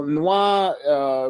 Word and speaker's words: Nwa: Yeah, well, Noir, which is spelled NWA, it means black in Haitian Creole.